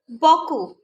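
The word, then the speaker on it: beaucoup: Boku, boku. Here we are not pronouncing the letter P. Okay. How it will be like if we will pronounce letter P? Boku. It's not right now, so we'll pronounce boku. The P will be silent.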